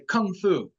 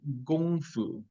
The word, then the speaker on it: Gong Fu: And so Qigong, the word Qi is energy, and Gong, like you hear Americans say Kung Fu, but in Chinese, it's actually Gong Fu.